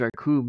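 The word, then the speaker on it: Recoome: He's like, "My name's Raccoon. It rhymes with doom, and uh, you'll be doomed all too soon," or something like that.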